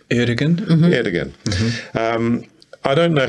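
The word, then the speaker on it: Erdoğan: So he won this mayoralty, and I don't know how the premier, how do you pronounce his name? Erdogan. Erdogan? Mm-hmm. Erdogan.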